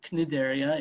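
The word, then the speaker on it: Cnidaria: large group of what we call nigeria or knidderia if you pronounce the sea and there are all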